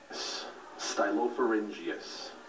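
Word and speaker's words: stylopharyngeus: good luck do your best and have fun styop forus styop forus s t y l o p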